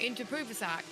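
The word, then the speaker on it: Inthraphuvasak: Because you keep saying that name, I probably will know how to pronounce it. Interpruvasak.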